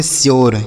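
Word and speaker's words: sure: अब यू का उच्चारण जो होगा यो, तो ये हो गया स्यो। आर ई से र, इसे पढ़ेंगे श्योर।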